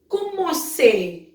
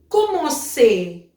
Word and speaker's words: commencer: So the examples are commencer, commencer, commencer. So CER has sound as say.